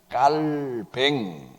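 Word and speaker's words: Calvin: 그래서이 이름은 원래 프랑스식 발음으로 부르다 그래서 어떻게 부르냐면 깔뱅 이렇게 불러야 맞다라고 하는 사람도 있는데 어떻게 부르든지 그게 뭐 그렇게 중요하겠습니까?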